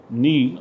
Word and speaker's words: knee: So knee, body part. So KNEE, we say knee.